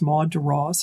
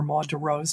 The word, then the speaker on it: Maud de Ros: Her name was Maud de Ros, or Maud de Ros, depending on how you pronounce her name.